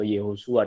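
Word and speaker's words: Yehoshua: Misal contoh, di Israel ada seorang pasangan, dia punya anak namanya Yehosua, katakan Yosua atau Yehosua dalam pelafalan Ibrani lebih tepatnya.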